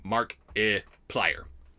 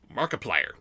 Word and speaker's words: Markiplier: Cheats the Pimp 2 is pointing out for me Markiplier. Markiplier. It's like multiplier, but with a mark instead of a mult. Thank you. That's very helpful. Markiplier.